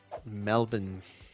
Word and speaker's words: Melbourne: Melbourne. I just learned the other day that I'm not supposed to pronounce the R.